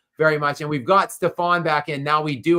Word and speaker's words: Stephon: But it is Stefan, not Stefan. So we do have, like, Stephon Marbury is the way that it is pronounced.